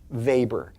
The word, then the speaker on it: Weber: up uh that's a w web R MOX vaber uh it looks like there's a barbecue bit